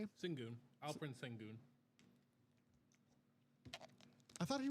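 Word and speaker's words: Şengün: Singon.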